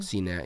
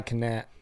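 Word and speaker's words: Cenat: or what not but is that how you pronounce his name cette yeah okay I thought it was I thought I thought it was Kai Kat no it's s um but he had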